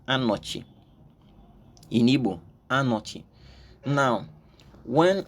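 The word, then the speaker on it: אני: word I have in mind is Ani is pronounced Ani in hebu Ani now when I looked into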